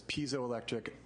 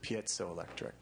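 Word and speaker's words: piezoelectric: electric well you know I've heard two different pronunciations one of them is piso electric but some scientists pronounce it Peto electric So and I've heard piso electric too but it's like my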